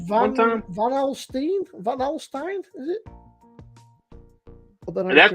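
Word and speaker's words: Van Alstyne: name of the town Van halstein van alstein that I pronounce it van a l s t y n e he faced rugby oh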